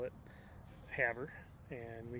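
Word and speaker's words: Havre: montana uh and from there we went to haver that's right we were pronouncing it havery which i still am but it was wrong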